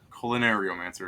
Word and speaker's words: Culinariomancer: Culinariomancer is how it's pronounced. Okay. Because I'm like, what do I do with the colon? Like, No, it's as in culinary, but I forgot one of the letters in there.